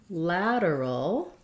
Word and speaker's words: lateral: lateral and laterally so for lateral we have a flap here we have first syllable stress and the a um and we have so thinking about it like la der da ladder i'm thinking maybe if you think of the word ladder it'll help lateral lateral and then laterally